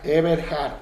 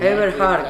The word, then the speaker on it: Eberhard: Eberhard, no Eberhard, con la H.